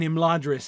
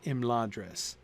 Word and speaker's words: Imladris: If Tolkien meant that word to be pronounced Imladris, he would have started the line with Imladris and not within.